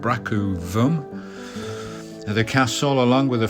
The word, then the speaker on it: Brougham: Brougham Castle, guys, is pronounced Brougham Castle.